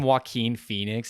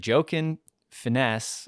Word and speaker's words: Joaquin Phoenix: And like anytime Joaquin Phoenix is in a movie too, he's like joking finesse or like something.